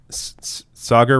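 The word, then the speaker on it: Saagar: there you go okay Sagar rhymes with logger so it's Sagar okay it's the two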